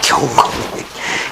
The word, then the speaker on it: 경건히: 젊은이 여러분, 성전을 향해서 3번씩 경건히 기도한, 발음이 안 좋네. 건건이라고 자꾸 냈어요. 경건히.